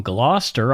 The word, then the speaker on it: Gloucester: And Carla is from Gloucester, Ontario. Matthew, I pronounced it correctly, didn't I?